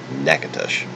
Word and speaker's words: Natchitoches: you how to spell what we in Louisiana pronounce Natchitoches I'm gonna try to I'm gonna try to